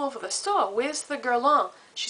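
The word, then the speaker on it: Guerlain: how um I was always talking about the gong primer that I love so much well the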